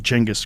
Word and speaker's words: Genghis: They explain where it came from and how it got fucked up over the years of translation into languages that didn't have Cheng. They didn't have that sound, and so Genghis Khan became Genghis Khan.